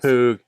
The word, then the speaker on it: Knappogue: I gave it too many syllables. Knappogue.